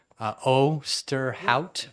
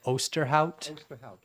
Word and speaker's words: Osterhout: Osterhout. Osterhout. Yes, sir. I say O-S-T-E, you know, pronounced exactly like it's spelled, except for the silent letters.